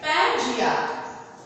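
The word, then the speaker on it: Pangaea: सारे पृथ्वी पर जो लैंड मास थे वह सिर्फ एक ही था, जिसको बोलते थे पैंजिया, जिसको इसका प्रोनाउंसिएशन होगा पंजिया। इसको आप लोग पढ़ेंगे पंजिया, पैंजिया ना पढ़ना, पंजिया।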